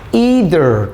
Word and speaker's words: either: 자, either 또는 뭐 either라고도 발음하기도 해요. 발음이 중요한 건 아니니까. either A or B.